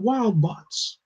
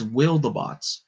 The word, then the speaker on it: Wildabots: most lethal pack of wild bots. Oh wait, what? Oh wait, I'm saying it wrong. It's Wildabots, kind of like wildebeest.